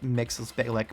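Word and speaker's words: Mxyzptlk: Richard Pryor also P.S I do know how to say his name it's mixes Bay lick but all right when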